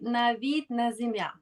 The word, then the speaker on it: Navid Nazemian: So I call it Mastering Executive Transitions, the Coaching Edge by Navid Nazemian, right? Did That's I correct.